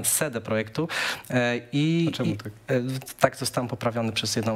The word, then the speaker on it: CD Projektu: CD Projektu. Okay. Przepraszam, ostatnio zostałem nauczony, że źle to wymawiam, CD Projektu.